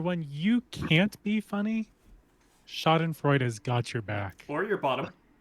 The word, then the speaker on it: Schadenfreude: So for when you can't be funny, Schadenfreude has got your back.